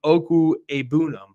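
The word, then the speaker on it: Okwuegbunam: see Albert o who apparently you pronounce the name oku abam according to his Twitter so um you know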